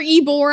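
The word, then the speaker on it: Ybor: I was like, it's like yore. Eore. I never know how to say it. It's like not a Y, but it's a great place to go.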